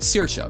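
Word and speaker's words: Saoirse: for Irish because like ca right s a o s a o i r s e is CA because the AO same thing with like epha right um it's the AO sound that combination is the e e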